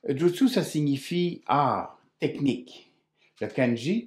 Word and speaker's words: jutsu: de deux façons mais la bonne façon à la fois de l'écrire et de le prononcer est jutsu jutsu ça signifie technique le